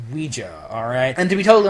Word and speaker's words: Ouija: It's pronounced Ouija, alright?